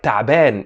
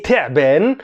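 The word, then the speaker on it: تعبان: anatabin and ataben and pronounce it right taben if you say terben it means i'm a snake so anata ben i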